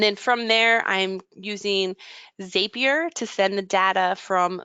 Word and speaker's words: Zapier: used zapier before it's I always say zapier or zapier but it's zapier makes you happier so it's in its